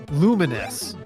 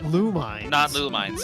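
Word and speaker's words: Lumines: that the puzzle game on the PSP is pronounced luminous not lumos yeah I did not know this until literally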